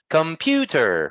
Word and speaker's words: computer: are three good and which syllable is stressed the first second or third syllable it's maybe the second one correct good computer right we stress the ooh computer great good job yes and it has three syllables the second syllable is stress really nice let's try another